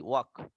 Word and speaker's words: walk: ওয়াক fast, উচ্চারণটা কখনো ওয়াল্ক হবে না, এস এল এর উচ্চারণ নাই, ওয়াক, ওয়াক ফাস্ট।